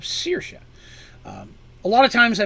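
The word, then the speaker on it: Saoirse: i've mentioned before uh the goddess sercia is s-a-o-i-r-s-e which again is an irish spelling of seisha a lot of times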